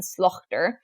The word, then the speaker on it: slaughter: For example, words with a silent GH like daughter, laughter, and slaughter would have been pronounced more like dochter, lochter, and slochter.